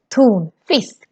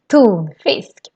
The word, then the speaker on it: tonfisk: And this is also a compound word, tonfisk. So we put them together, but still the stress is in both words. Tonfisk, tonfisk. This brand is also very interesting.